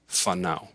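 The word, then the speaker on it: whānau: And if there is the WH, fanao, which is family, it's pronounced like an F, fanao.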